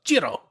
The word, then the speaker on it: Cirò: when the letter is when the letter c is followed by an i or an e it makes what kind